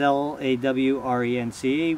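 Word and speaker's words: Lorenz: His is L-A-W-R-E-N-C-E, which is the most common. Mine is actually pronounced Lawrence, which is L-O-R-E-N-Z.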